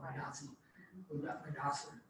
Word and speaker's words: Mudassar: How do you say his name? Name is Mudassar. Mudassar, yes, I always say it wrong, Mudassar. So these two people will